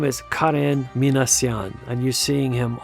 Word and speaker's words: Karen: And by the way, that's the way you pronounce it. It's not Karen, but Karen. There is no Karen in Armenian. So it's only Karen.